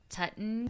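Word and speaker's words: Tutankhamun: I've always known his name to be Toutin Common, but I know other people say it like Tutton, so I'm just going to refer to him as King Tut, and I hope that's not offensive.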